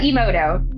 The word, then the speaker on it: Emoto: Did I pronounce his name? Dr. Emoto.